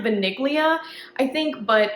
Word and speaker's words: Vaniglia: it's it's spelled like vaniglia I think but it's supposed to be the Italian word for vanilla and it's supposed to be pronounced vanilla so yeah needless to